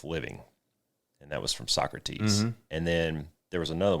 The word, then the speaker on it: Socrates: some reading from like Aristotle and so crates and all those I know it's Socrates Socrates yes but but I